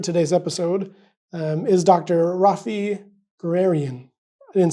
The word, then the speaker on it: Gurunian: Raffi Gurunian. I didn't say that right. How do you say it? Gurunian.